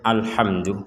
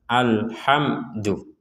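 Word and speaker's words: الحمد: sama dengan bismillah tadi jangan sampai dipentalkan alhamdu jangan menjadi alhamdu sekali lagi jangan sampai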